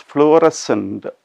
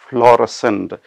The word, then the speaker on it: fluorescent: our next word is fluorescent or fluorescent it is pronounced in both ways okay it can be